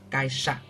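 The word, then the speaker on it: 会社: Chữ hội, chữ xã đọc là Kaisha.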